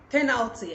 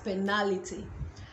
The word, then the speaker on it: penalty: the penalty no penalty so penalty and not penality and that takes us to the next word which is penalty this word is pronounced penalty as i said and not finality or penalty penalty the stress is on the first syllable so say penalty and